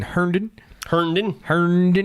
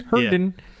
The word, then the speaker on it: Herndon: So they originally started in Herndon, Virginia. I don't even know how to say that. Herndon. Herndon. Herndon.